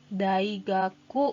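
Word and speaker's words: 大学: kita ingin mengatakan universitas-universitas ditambahkan gaji besar kemudian dibacanya menjadi Daigaku go Daigaku Universitas Nah untuk muridnya atau siswanya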